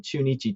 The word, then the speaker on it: Chunichi: edition of the show pronunciation is spot on it's yakult swallows and chunichi dragons so very nice good